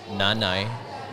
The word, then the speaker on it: Nanay: You can call mommy Nanay. Nanay. Nana. Mom. Yep. Mommy. Or you can call me. Good pronunciation, Yeah.